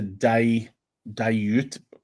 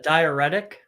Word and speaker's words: diuretic: Caffeine is a dilute. How do you say that word, Chris? Caffeine is a diuretic.